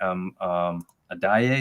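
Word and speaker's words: Adeyi: So that was interesting when you've got a guy named Adaye. Is that how you pronounce his name?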